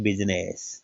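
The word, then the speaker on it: business: उच्चारण हो जाता है परंतु इसका इस आई का उच्चारण नहीं होता क्या बोलते हैं बिजनेस देखिएगा नेक्स्ट के साइलेंट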